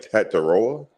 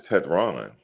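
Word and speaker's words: Tetairoa: I I was like, Tataroa. What is How do you say his name? It's Tetron.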